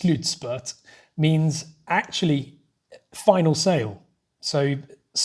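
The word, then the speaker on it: slutspurt: was explained to me that slitzbert as it's pronounced slutspert means actually final sale so basically means final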